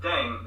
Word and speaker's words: Ddaeng: don't go to there do your thing everything rm is now playing with language now the pronunciation of deng is similar to thang which is the slang of thing in english last but